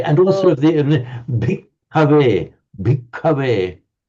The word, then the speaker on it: bhikkhave: Can you just pronounce the bhikkhave? And in particular, I'm listening to you saying the very distinct doubling of the K, and also the very